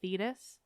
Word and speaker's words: Thetis: to remind myself that according to the ancient Greek I really do think it should be thedus anyway I'm losing you I